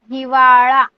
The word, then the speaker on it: हिवाळा: Okay see every time आपका pronunciation ळ होना चाहिए, ळ ड नहीं। पावसाळा, हिवाळा, उन्हाळा लाइक दिस।